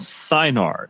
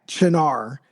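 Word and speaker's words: Cynar: rye um combined with vermouth and something called sinar. So John before you talk about how you constructed this tell our listeners what in the world is sinar.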